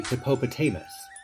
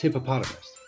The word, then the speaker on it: hippopotamus: Like, you wouldn't say hippopotamus. It sounds weird. It's hippopotamus. Let's hear that again.